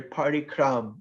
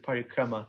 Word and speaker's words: parikrama: a we just made up a word our party crumb instead of parikrama so sometimes we we try to sound indian